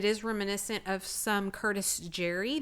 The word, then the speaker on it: Jere: That's spelled Jere, Curtis Jerry. And if you can find a signed original Curtis Jerry piece, those are, bringing up to thousands of dollars. Did you know sometimes it's C. Jerry? Yes. And people don't, I mean, you have to look it up to know to pronounce it that way.